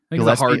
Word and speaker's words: Gillespie: I don't know how to pronounce Colin Gillespie's last name, so I'm going to Gillespie. Okay. Hardg. All right, we're going to go. We're going to stick with the hard G.